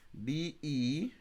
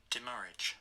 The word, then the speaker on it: demurrage: DEMURRAGE, meaning. Here, pronunciation. Demurrage.